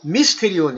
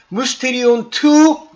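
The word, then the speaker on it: μυστήριον: 어떻게 헬라어로 말하고 있냐면 뮤스테리온 뮤스테리온 그래서 여긴 발음으로는 미스테리온 그랬는데요 요요 유자같이 생긴게 요게 Y 반모음이긴 하지만 그렇다고 미스테리온 이렇게 발음하는 건 아니고요. 미스테리온 이렇게 유자 비슷하게 발음하는게 정상입니다.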